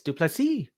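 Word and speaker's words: Du Plessis: Almost Duplessis like Dupree in UFC. It's Duplessis. That's his pronunciation.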